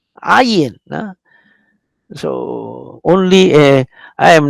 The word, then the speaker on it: ayin: It sounds like a G, like a G. It is between G and no G, between G and nothing, no sound.